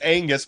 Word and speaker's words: Oengus: path it really is it's Angus but it's spelled weird like that and he changed